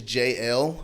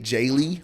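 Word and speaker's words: Jaelle: used to that because my name is JL but it's spelled like j-a-e-l-l-e okay so I get Jaylee a lot of times like in jail they're like your name's Jail jail like you've been in jail and I'm like okay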